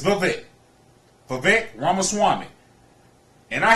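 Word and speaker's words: Vivek: I saw his name I was calling him Viet no it's vet vet ramama Swami and I had to listen to somebody else pronounce his last name cuz I didn't know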